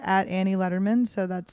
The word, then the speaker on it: Lederman: you can't remember that it's like David Letterman but no teas One D so you can just